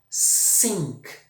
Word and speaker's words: sink: Sink, pia, afundar, esgoto.